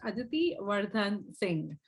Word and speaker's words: Aditi Wardhan Singh: so I have with us on today's episode aiti sing and please correct me make sure I pronounced your name correctly is that right yes perfect Aditi wardan Singh because sing is a very common name I